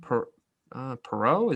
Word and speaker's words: Perreault: They drafted how do you say his name? Perot? Is that how you say it? Yeah, Jacob Perreault, yep.